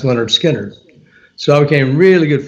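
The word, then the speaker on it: Lynyrd Skynyrd: that's when skinner released their first album um pronounced leonard skinner so i became really good friends with those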